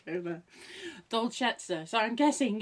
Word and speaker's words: Dolcezza: to say it, but I'm guessing it's Dolcezza. Dolce, D-O-L-C-E, which is Dolce, and then Dolce even, and then 2 Z's and an A, and usually that's like prezzo or prezzo.